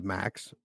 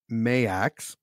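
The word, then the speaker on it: Maax: witches tell high priest I thought it was Max it's mayx oh yeah yeah right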